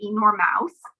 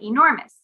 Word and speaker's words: enormous: We don't say enormous, we say enormous.